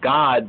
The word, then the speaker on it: Gad: But fortune now, Fortuna, in the Hebrew, is God, not God, but Gad. The name Gad properly pronounces God.